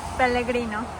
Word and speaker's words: Pellegrino: Pellegrino.